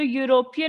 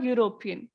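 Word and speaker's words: European: आवाज आ रही है तो यूरोपियन में य य की आवाज आती है जो एक वावल नहीं है इसलिए हम क्या बोलते हैं अ यूरोपियन लास्ट रूल क्या कहता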